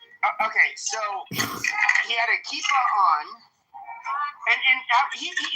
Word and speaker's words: kippah: It's pronounced kippah. Kippah. Kipper, Yom Kippur. Kippah, not Yom Kippur.